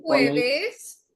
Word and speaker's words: jueves: So J is pronounced as kha in Spanish.